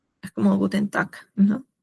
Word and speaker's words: Guten Tag: bien que les mencioné que cuando la G termina, o sea, está al final y al costado hay una A, una E, una O, se pronuncia como una K. Es como Guten Tag, ¿no?